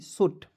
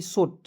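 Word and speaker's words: shout: एच ओ यू टी सोट साट देखिए इसको दोस्तो ए होता है स और व यट का उच्चारण दोस्तो आउट के रूप में करेंगे क्या हो जाएगा साट क्लियर सूट नहीं पढ़िए साट मीस होता दोस्तों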